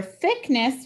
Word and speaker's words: thickness: For thickness, we have digraph TH and digraph CK. Underline both the digraphs. The C in digraph CK is silent and the I is closed in, so I'll put a brief.